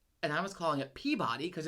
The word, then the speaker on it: Peabody: next to Salem, and I was calling it Peabody because it's spelled Peabody.